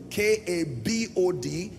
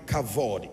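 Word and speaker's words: כָּבוֹד: V replaced with B so k a b o d pronounce kabod and then in other text you will find cavod in any case here's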